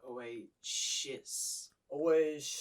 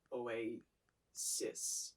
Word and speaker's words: Oasis: it sounds like you say oh wait uh oh always just so the correct pronunciation is away cis always those two sounds are kind of difficult